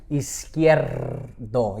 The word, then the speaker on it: Izquierdo: Izquierdo. to make sure you get that R rolled in there. See, see, I That's why I don't say it. I just say Izquierdo.